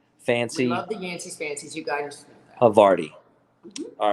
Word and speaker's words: Havarti: How do you say this? Havarti? No. It's Havarti.